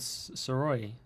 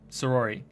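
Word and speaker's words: Sayori: that though also the same thing happened with siroy sirois so say roy what can i say her name sorori sorori sorori there we go sorori what is circle name sometimes gosh it's been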